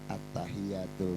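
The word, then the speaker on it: التحيات: Attahiyatul mubarokatuus shawatut thayibatu lillah. Attahiyatul mubarok. Di situ ada tasdid attahiyatu. Attahiyatu. Pernah enggak kita bacanya sampai detail?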